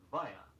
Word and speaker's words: via: Two Latin expressions now which are pronounced in the English manner. The first is via, V-I-A.